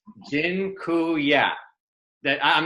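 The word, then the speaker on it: dziękuję: so much awesome and Jin Kuya by the way I just taught you all the Polish word for thank you it's gin cool yeah that I'm not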